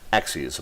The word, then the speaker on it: axes: three axis of movement axes by the way ax es is how you say the plural of axis we're not dropping up